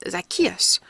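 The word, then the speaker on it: Zacchaeus: the proper pronunciation is zakus but we Yankees almost always start the emphasis a little too soon zakus zakus zakus said Mr Moody trying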